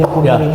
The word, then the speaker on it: deponering: Ini memang luar biasa dari Bang Jagir kita dapat insight mengenai hukum dan saya lihat jadi kan ada salah kaprah mengenai deponering itu. Pengucapannya. Deponering.